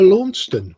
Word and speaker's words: Launceston: He said, I know, Australians are all pronouncing it wrong because I know about Launceston because I was born there. So, it's actually Launceston, not Launceston, but, we just changed the dialect because, we could, and we just didn't know better.